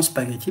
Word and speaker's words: spaghetti: En réalité, oui, nous prononçons spaghetti parce que G plus H en Italie se prononce G.